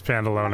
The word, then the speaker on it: Pantalone: Okay, it is Pandalone. Why make things harder than they need to be? I've been saying it wrong the whole time.